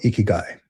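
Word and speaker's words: ikigai: It is uh it's called ikiguai. It literally is pronounced icky, right?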